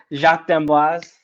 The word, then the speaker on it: Jacques d'Amboise: Jacques d'Amboise.